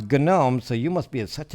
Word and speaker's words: GNOME: It's like GNOME. You're supposed to say GNOME and GNU instead of new and gnome.